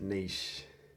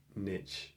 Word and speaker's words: niche: niche I pronounce that niche I suppose if I wanted to make it sound more rhyming with rich I pronounce it Mitch but it's way more